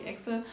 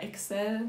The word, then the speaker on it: Excel: Also es gibt Google Docs, das ist quasi wie Word, es gibt Google Tabellen, also wie Excel oder Excel, wird das ja eigentlich ausgesprochen, und es gibt Google Presentations oder Präsentationen, das ist dann wie PowerPoint.